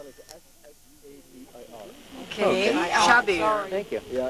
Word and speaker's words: Shabir: Shabir. You spell it S-H-A-B-I-R.